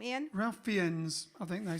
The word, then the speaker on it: Fiennes: How do you pronounce his last name, Ian? Ralph Fiennes, I think they say. Ralph Fiennes.